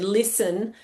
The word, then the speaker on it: listen: was trying to write the word listen and got so upset when he found out that it had a t in it um because he just couldn't hear it.